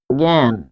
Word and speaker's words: জ্ঞান: আচ্ছা একটু শুরুতে দিয়ে একটা উদাহরণ লিখি, শুরুতে জ্ঞান, জ্ঞান এটির উচ্চারণ হচ্ছে জ্ঞান।